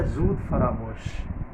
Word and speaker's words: زود فراموش: اسے زود فراموش پڑھا، تو یہ لفظ ہے زود فراموش۔ باقی عائشہ خان، آپ